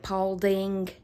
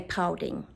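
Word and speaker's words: Paulding: do not pronounce it Pauling they say ping pin actually there's no G on the end I mean there is but they say pin pin so when I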